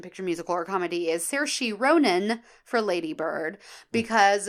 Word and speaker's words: Saoirse: Saoirse. That's a beautiful name, but I would never know that's how you pronounce it.